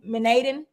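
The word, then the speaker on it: menhaden: the fish which were mostly uh I can't pronounce the name of this type of fish is m-e-n-h-a-d-e-n manadin okay we're gonna say that in Cantona Beach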